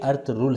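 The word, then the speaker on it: Ertuğrul: बात क्लियर कर दूं लफ्ज अर्थ रूल नहीं बल्कि अर्थ रूल है गुर्दों में लिखते हुए लाइन की आवाज नहीं आएगी जगह इंग्लिश में लिखते हुए जी साइलेंट होगा ना फ्रिल अर्थ रूल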